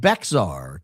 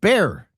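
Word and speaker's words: Bexar: Uh love you, but Beckar County is pronounced like Bear County.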